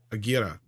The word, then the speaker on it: Aguirre: Aguirre. Peruvian Indians approached Herzog and offered to murder Kinski. He reportedly seriously considered it. Awesome film. Yeah, this is another true story. I'm not sure it was on Aguirre.